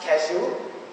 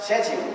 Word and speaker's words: schedule: And both of them, the moment you go out of this country, this D becomes a J. And you pronounce it like a J. So either you pronounce it as schedule, which is US, or you pronounce it as schedule, which is UK. Either schedule or schedule.